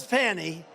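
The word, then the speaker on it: Fani: funny funny it's spelled Fanny it's spelled Fanny like your ass right fatty but when she became da she decided to add a little French a little Fancy fny funny and you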